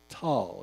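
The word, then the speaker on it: Tolle: present moment and Eckhart tall if I'm pronouncing correctly is a noted pardon me Eckhart I can't the last name is Tough it's t-o-l-l-e and the pronunciation on the internet says t-a-a-l so you do it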